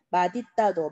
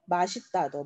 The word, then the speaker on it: 맛있다: 그래서 맛있다와 멋있다 요 두 단어는 둘 다 발음이 맞습니다. 맛있다도 맞고 맛있다도 맞고 멋있다도 맞고 멋있다도 맞고 둘 다 맞는 발음이에요.